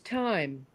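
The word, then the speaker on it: thyme: there yeah that is time now I actually spend I it's sort of my exercise that I do every morning I do these deep knee bends or whatever time is spelled t h ym Ted and um so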